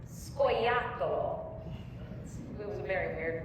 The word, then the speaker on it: scoiattolo: It's scoiattolo.